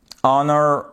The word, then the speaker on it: honor: Honor, air, vous ne prononcez pas le H.